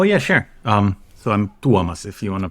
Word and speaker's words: Tuomas: about yourself oh yeah sure um so I'm duomas if you want to pronounce it correctly nobody can so I go